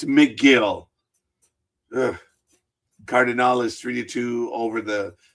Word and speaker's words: Megill: Nationals pulling over McGill, Megill, Megill. It's probably meal. The guy probably pronounced it meal. It's McGill.